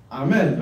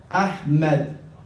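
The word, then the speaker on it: أحمد: Ahmed. Get it? Ahmed. The ha in the beginning looks like this. Ahmed. Ahmed. That's how you read it.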